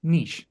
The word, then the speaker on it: niche: everyone it's looking like most people rhyme it with peace peace Niche that's how I I think that's the traditional French pronunciation of it and I'm still I